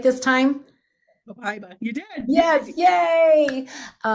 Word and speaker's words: Copaiba: Copaiba.